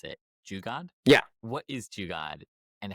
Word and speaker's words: Jugaad: I'm probably going to mispronounce it. Jugaad?